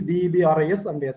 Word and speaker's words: debris: it's called space debris spelling is d e b r is silent you have to pronounce debris only so space waste there